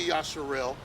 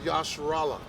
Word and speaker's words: Yasharallah: You're going to say Yasharallah. You didn't say Yasharel. You didn't say Yisrael. You didn't say Yasharal. You said Yasharallah. You said it right.